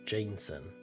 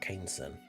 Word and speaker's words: Jameson: I was never bothered enough to mention it, but since we are My name is actually pronounced Jameson. Oh, okay. Not Kesen. Oh, I'm sorry.